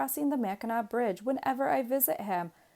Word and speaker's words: Mackinac: rhyme with Cadillac but the second C is silent pronounced correctly Mackinac rhymes with drop your